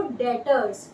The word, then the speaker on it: Debtors: जब हमारे पास हम सेल्स करते हैं और हमारे पैसे आने होते हैं तो उसे हम यूज करते हैं उस टर्म को डेटर्स।